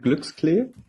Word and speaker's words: Glücksklee: Yes, well, you pronounce it Glücksklee.